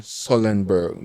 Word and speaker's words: Sullenberger: In the Hudson River by Captain Sullenberger. Do I pronounce his name right?